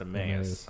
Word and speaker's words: Emmaus: switch back pizza company located in Emmaus right is pronounced a Millions I never I've never